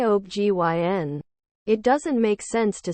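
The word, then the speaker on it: OB/GYN: when it's spelled out it's an initialism not an acronym I believe it's like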